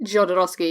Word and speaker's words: Jodorowsky: Scott and Alexandra two drafts key am i pronouncing that right Jodorowsky yeah when they were considering bringing June to